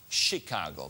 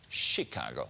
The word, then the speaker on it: Chicago: dass das patent stammt von einem erfinder aus chicago beachten sie bitte die korrekte aussprache chicago nicht chicago seine chicago chicago ging mir das